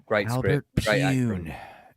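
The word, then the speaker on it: Pyun: Pune. It's And- P-Y-U-N, right? Yes. Yeah, Poon. Yeah. Okay. And No, rest in Pune, peace. right? Rest in peace, Albert. Yeah, it is pronounced Poon.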